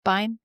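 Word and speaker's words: Fishbein: Morris Fishbine. I think that's how you say it. Bean. Fishbine. Pine. Bine. Okay, great.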